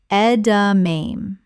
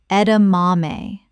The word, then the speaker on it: edamame: Ed-a-main. Correct pronunciation. Ed-a-mah-may. Four syllables with the stress on the third. This is Japanese.